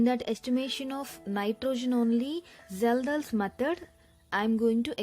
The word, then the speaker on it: Kjeldahl: here you can see k is silent the correct pronunciation is zelda's h yeah this is